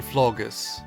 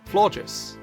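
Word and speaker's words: Floette: So, by far the two most common pronunciations for this Pokémon's name is Flores and Florus. I've always preferred the pronunciation of Flora, but the name origins lays out very nicely. This combination of Flora and Gorgeous, which makes the correct pronunciation Flores.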